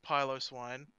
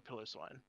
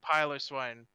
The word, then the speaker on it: Piloswine: no runt but um it is piloswine yeah as much as it is a little annoying to say it like that yeah i got it from the um i used to call a pillow swine because it was just it just seemed a bit easier to say like pile of swine is how you say it there are a